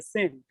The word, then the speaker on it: SYN: and so on so when you pronounce sin it sounds like s-i-n which is uh also